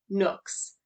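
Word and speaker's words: Gnooks: would recommend to everyone this is called nooks with a silent g yes that yeah the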